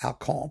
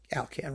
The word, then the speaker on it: Alkan: shows Alkan to be, or Alkan, pardon me. I mean, Alkan rhymes with the dog food, right? Calcan. To be a vibratist.